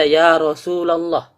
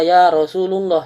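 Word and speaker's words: يا رسولَ الله: yang sering kita baca Ya Rasulallah jangan baca yarosululoh salah Jadi kalau masih ada yang bacanya Rosulullah barisnya salah barisnya salah ya seterusnya yang terakhir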